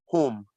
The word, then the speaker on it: hum: And that is pronounced whom. Whom, as in the English word WHOM.